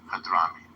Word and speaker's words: Hadhrami: Hadrami.